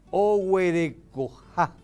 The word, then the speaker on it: ohuerecoja: Silabeado, o, hue, re, co, ja. La sílaba que lleva la vocal tónica es ja, y por ser final, el acento es solamente prosódico.